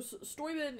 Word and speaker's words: Steuben: So Steuben is the German pronunciation, but Steuben's the Americanized version. So if you're ever in Steubenville, Ohio, which is named after him, it's Steubenville because America.